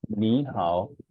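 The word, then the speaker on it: 你好: Okay, so this ni hao, it will become ni hao, ni hao. So the first tone, the tone of the first syllable, that is the third tone, will change into the second tone.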